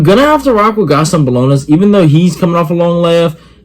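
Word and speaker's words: Gastón Bolaños: Gaston Bolonas, that's how you say his name.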